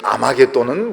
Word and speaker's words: 아마겟돈: 이 아마겟돈이라는 것은 헬라식 발음입니다.